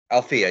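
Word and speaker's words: Alfea: Which, did I pronounce that correctly? Althea, yeah.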